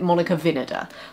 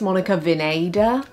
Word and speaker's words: Monica Vinader: same brand now i i have always called it monika vinoda but i think it's monika vineda regardless of how you